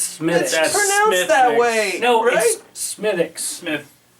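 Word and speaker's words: Smithwick's: Wis SM smus board SM walk no it's smiix that's never wrong Smith show that to the camera it's not Smith Wix it's Smith pronoun that way smithx Smith it's an Irish beer from the makers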